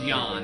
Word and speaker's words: Jan: Pronunciation first name is Jan, actually, so Jan Geldsetzer.